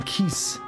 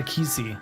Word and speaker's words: Keese: So it's a Keese, not a Kisi. The E isn't pronounced, and it's a winged eyeball in Zelda.